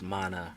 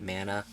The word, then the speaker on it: Mana: visions of Mana people do know that it's pronounced Mana right and not Mana I I mean I always said it as Mana but like Mana it actually it's actually Mana first of all and it actually makes more